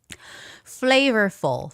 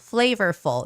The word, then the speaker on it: flavorful: Flavorful. Flavorful. You see how my mouth, the both lips are not touching the whole time. Flavorful. Flavorful. Flavorful. Right? I'm not touching my lips.